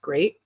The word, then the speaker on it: GLEAT: And like the first time was with TJPW, and the second and third time was with Great. It's spelled GLEAT, but it's pronounced Great.